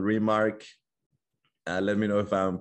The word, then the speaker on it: RMRK: It's called RMRK. Let me know if I'm pronouncing it well.